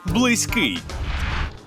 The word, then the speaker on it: близький: теж може бути близьким але всюди наголос на останній склад близький близький близький зафіксували у слові близький наголошуємо останній склад близький так Ну що наголоси